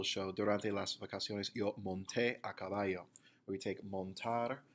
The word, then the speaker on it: monté: You do not want to say yo monte with the emphasis on the mon. You need to put the emphasis at the end of the word yo monté a caballo.